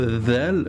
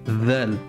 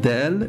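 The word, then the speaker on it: ذال: En fait, on sort un peu la langue pour prononcer dhal. C'est la seule différence. Dhal. Ça c'est dal, dal, et ça c'est dhal. On sort légèrement la pointe de la langue quand on prononce.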